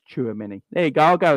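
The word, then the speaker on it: Tchouaméni: nonsense choose the money it's pronounced Chua Minnie there you go I'll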